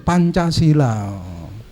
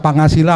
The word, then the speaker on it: Pancasila: sila pak itu loh Pancasila niku mboten ngangge t ngangge J nikuiki ejaan baru Pancasila jadi jangan dibaca pangasila maksud saya saudara-saudara sekalian